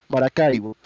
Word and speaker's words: Maracaibo: Sorry, I gotta switch from English to Spanish to pronounce it correctly. Maracaibo.